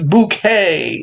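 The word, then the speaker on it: Bucket: keeping up appearances style it's it's bouquet it's spelled b-u-c-k-e-t we just accept the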